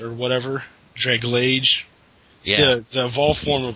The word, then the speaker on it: Dragalge: I got that that Dragalage or whatever, Draglage. Yeah, the evolved form of Skrelp. The way I've heard it pronounced is Dragalge because. Scroll. Algae, yeah.